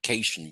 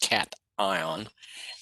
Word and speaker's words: cation: I call it a cation, but it's pronounced cation and anion.